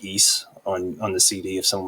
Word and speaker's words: Ys: Yeah, but like when I was looking up Victor Musical Industries, it looked like they did music for East.